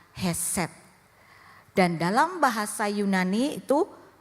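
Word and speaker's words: khesed: diterjemahkan dalam bahasa Ibrani k h e s e d dibacanya adalah heset dan dalam bahasa Yunani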